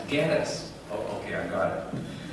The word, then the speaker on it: Geddes: And he said, it's Geddes, like lettuce. Oh, okay. As opposed to what? Not Shreddies, Geddes. No, it's lettuce, Geddes. Oh, okay, I got it. So, Gary Geddes is our keynote speaker tonight.